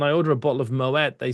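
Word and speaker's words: Moët: Bring me my Moette. Yeah, Claude Moette was a Dutchman. He was not French and we pronounced the T in the Netherlands.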